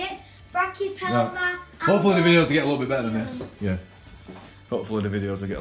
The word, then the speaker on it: Brachypelma: Yeah, it's a Carabina versicola and a Brachyophelmia alpilosum nicarigu.